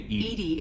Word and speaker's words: EDI: why are you named Edie is the phonetic pronunciation of EDI where are you my